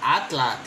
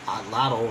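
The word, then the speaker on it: atlatl: kind of cool, like atlat. Atlat used as a knife, a reference for a knife, right? Well, atlat, in English, they call it atlato, right? Corruption of the Nahuatl.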